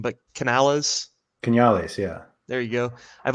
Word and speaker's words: Canales: to own a and i'm gonna butcher the pronunciation but canales canales yeah there you go i've always wanted to